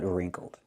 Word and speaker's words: wrinkled: Not crumpled, but wrinkled. Pronunciation, wrinkled. Make the R sound, r, plus the long E, like green beans, ring. Then make the nasal sound, in your nose, ring, wrinkled.